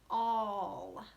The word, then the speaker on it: all: Sounds like an O and then an L. All. But really it's spelled A-L-L.